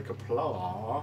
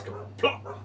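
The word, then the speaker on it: Qapla': Kapla! Or kapla! There's no R, it's an ah. I did see a Klingon video and they said, don't say kapla, because that's wrong. It's kapla.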